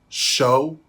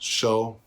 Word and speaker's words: SEO: but he also wrote Show. I hope I'm pronouncing it correctly this time. It's spelled SEO, but I believe it's pronounced Show.